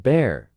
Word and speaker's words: Bar: She said that's the nickname she and my grandparents used for me when I was growing up, often shortened to Bar, pronounced Bear.